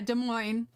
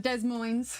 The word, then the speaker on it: Des Moines: Des Moines drives me insane, or however you say it. Yeah, Des Moines. Not Des Moines.